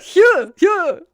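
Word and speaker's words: Hjörleifur: Hjorleifur Hjorleifur Shurdi. Hjorleifur Shurdi. Just put the first emphasis on the first part.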